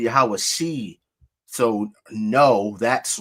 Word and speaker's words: Yahawashi: Using a cherek under the ayin would not make a I sound. It would make a E, so it would be Yahawashi.